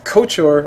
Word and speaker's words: Couchor: a little bit later, but his name is Couchor, or Couchor, or Couchor, I think I said it right the first time, correct?